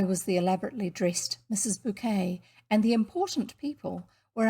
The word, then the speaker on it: Bucket: Savage Bouquet's candlelit dinner for important people. You will probably recall the TV program Keeping Up Appearances, with the pretentious Mrs. Bouquet, pronounced bouquet, not bucket, her long-suffering husband and awful brother, Onslow.